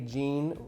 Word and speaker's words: Jean: But when I met you, you were Jean, and we decided to stick with that English name because, hey, Jean rhymes with Dean, and so, hey, there's something there, right?